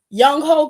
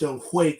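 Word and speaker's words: Younghoe: It's pronounced Young Hui. That's how it's pronounced. That say Young Ho. I know it says Young Ho, but it's actually pronounced Young Hui.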